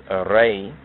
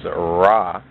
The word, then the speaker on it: Re: to Negus, just as Re, which is mispronounced as Ra, is not etymologically related to Ras.